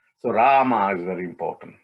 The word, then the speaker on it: Rama: is an m a rama right so ra ah ma so three syllables also rama is powerful